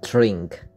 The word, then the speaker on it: drink: Thì đặt cái lưỡi đầu tiên là vô đằng mặt mặt sau của răng hàm trên. Đó. Thì lúc thì mình phát âm ra. Rồi xong lúc phát âm thêm chữ R nữa, uống cái lưỡi ra phía sau là drink table.